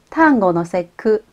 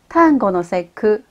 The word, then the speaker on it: 端午の節句: 端午の節句。節句中间有一个小促音，所以要停一下哦。端午の節句。